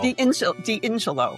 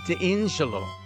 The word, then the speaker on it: D'Ingillo: No. D'Ingillo with an I. D'Ingillo.